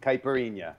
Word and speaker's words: Caipirinha: Cachaça and Caipirinha.